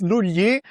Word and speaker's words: Lugli: So, it's Luli, but it's because it's Italian, you know.